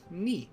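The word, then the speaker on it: に: Ni. The ni character. As you pronounce this as ni, like knee, as in neat.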